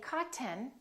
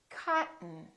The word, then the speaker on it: cotton: Don't say cotton. Say cotton, cotton.